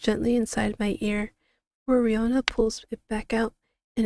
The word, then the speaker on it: Riona: I'm pronouncing it right. Oh, okay. So, is Rihanna.